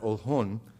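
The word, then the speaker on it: Oljon: is how it's been spelled in Spanish we pronounce that old hon was located on the coast of what's now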